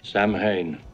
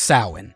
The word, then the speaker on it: Samhain: Speaking of convoluted continuity, Michael writes in blood on a school chalkboard, "Samhain." Okay, first off, it's pronounced Samhain.